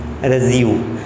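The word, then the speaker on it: résumé: हम सब लोग इसे रिज्यूम पढ़ते हैं, मैक्सिमम लोग रिज्यूम पढ़ते हैं, लेकिन प्रोफेशनल लैंग्वेज में इसे रिज्यूम नहीं पढ़ा जाता है। उसका मीनिंग कुछ और ही होगा। रिज्यूम पढ़ा जाएगा लेकिन उसका मीनिंग कुछ और होगा। लेकिन यहाँ पर जब हम अपने बायोडाटा की बात कर रहे हैं तब हमें इसे पढ़ना है रेज़्यूमे। रेज़्यूमे, रेज़्यूमे। क्या पढ़ोगे आप? रेज़्यूमे, रेज़्यूमे। ओके, ध्यान रखना है, रिज्यूम नहीं पढ़ना है ना।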